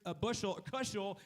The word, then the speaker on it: Kushel: I see Sherry Kushel, rhymes with Bushel right there.